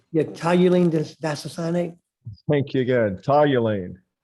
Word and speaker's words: toluene: This is toluene disocyanate. Is that right? See under product name? Yeah, toluene disocyanate.